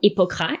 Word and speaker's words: hypocras: Hippocras, or Hippocras if you stick to the French pronunciation, was a spiced and sweetened wine, so prestigious that kings gifted it to each other.